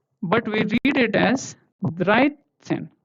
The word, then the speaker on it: dreizehn: But we read it as Dreizehn, not Dreizehn, okay? It is read as Dreizehn because T and S, this is T and S, right?